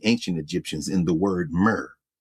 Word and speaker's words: mer: Egyptians, by the ancient Egyptians in the word mer. M E R is how we would spell it, but the glyph of a backhoe.